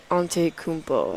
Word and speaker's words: Antetokounmpo: Antetokounmpo.